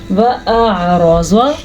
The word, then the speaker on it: وَأَعْرَضَ: آپ اب خود امیجن کریں کہ میں کیسے حمزہ اور عین دونوں کو نکال رہی ہوں. وَأَعْرَضَ, را کو پر پڑھنا ہے کیونکہ را پہ زبر